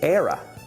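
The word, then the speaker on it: Éire: say Ireland in Gaelic Ireland in Gaelic is era era can you say era ER we're going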